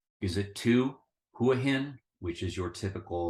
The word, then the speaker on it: Hua Hin: the land of smiles so think of Hua hin what can with Rising tones at the end is it one two